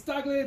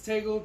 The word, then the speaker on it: Tagle: It's Tagle down home. It's Tagle to those who can't pronounce it.